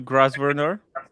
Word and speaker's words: Grosvenor: It's a silent S in the name of the hotel. Grosvenor.